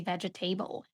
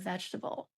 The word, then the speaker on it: vegetable: but a lot of my students they say vegetable instead of vegetable.